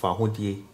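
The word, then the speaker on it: Fawohodie: So this one is usually pronounced really quick, so it's pronounced fahudie, but if you break it down, it's fahudie. So you can see here the D I E is, this is pronounced E and this is pronounced A, so D.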